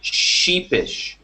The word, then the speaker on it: sheepish: The word that we were discussing has the SH at the beginning and the end, so it's a little bit difficult to pronounce. But the SH makes a shh sound, like shh, be quiet, shh, shh. Okay, so you want to say sheepish, sheepish.